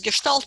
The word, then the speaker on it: Gestalt: And it's pronounced as Gestalt because in German, S and T, S before T is pronounced as Sh.